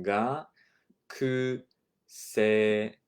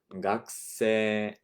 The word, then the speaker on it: 学生: And you'll notice the pronunciation がくせ. You're kind of elongating the e sound at the end. 学生, okay?